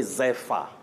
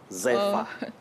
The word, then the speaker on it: zephyr: Oh, you say Zephyr. Zephyr, not Zephyr. Zephyr. Zephyr. ZEPHYR. That's correct.